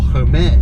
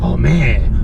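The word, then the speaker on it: Hermès: you will not or her man her man some people like to say Oh Bobby the correct spelling or pronunciation is all may understand seriously for the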